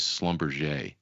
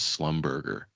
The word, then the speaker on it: Schlumberger: And so my first quote as a licensed representative, the guy asked for a quote on SLB, which is Schlumberger. And I mispronounced it as Slumberger.